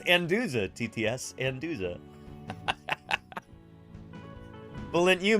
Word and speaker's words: Anduza: and Valence I like how our TTS can't pronounce my last name it's anduza TTS anduza hahaha bullet you make me blush